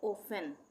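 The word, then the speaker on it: often: इसी तरह से ओफेन, ओफेन, ओफेन में क्या एक साथ आ रहा है? FTEN, FTEN भी एक साथ आएगा तो वहाँ पे टी का उच्चारण नहीं होगा, ओफेन।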